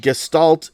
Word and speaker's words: Gestalt: What the hell is a Gestalt? Am I pronouncing that right? You're pronouncing that correct. Gestalt.